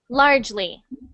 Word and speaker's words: largely: and next one largely so instead of largely it's just two syllables so you just say large Le largely largely perfect good good